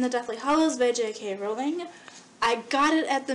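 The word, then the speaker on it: Rowling: Harry Potter and the Deathly Hollows by JK ring J why do I say her name wrong Harry Potter and the Deathly Hollows by JK rolling I got it at the midnight release like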